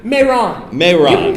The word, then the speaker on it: Mehran: Mehran? Mehran.